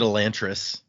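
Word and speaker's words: Elantris: So technically, once again, while we always say this one wrong, we call it Elantress. The way this language works, the technical pronunciation be elantress. Yeah, we didn't say that. No, we sure didn't because that sounds ridiculous.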